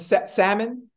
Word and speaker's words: salmon: And salmon? Salmon? The L is silent?